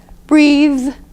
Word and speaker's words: breathe: consonant at the end you need to pronounce it properly you really need to hit it what I call hit it hard so this is breathe breathe breathe breathe breathe